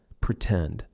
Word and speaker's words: pretend: the true T sound, pretend. For example, in the word pretend, the stressed syllable starts with T, T-tend, pretend, right? So we are going to use the true T sound, and then we can